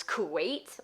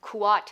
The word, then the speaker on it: Kuat: that in the past I'd pronounced Kuat as Kuwait, like the country, and I had to Google it. That's not correct, so Kuat of Kuat.